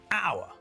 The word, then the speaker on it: hour: the beginning of our the word sounds like it starts with an O not an H so we use earn